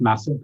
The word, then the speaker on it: MASF: It's pronounced massive because I'm trying to make a massive change, but masf.ie.